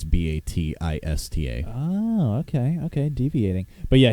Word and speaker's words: Bautista: And it's not spelled like his last name. It's Batista.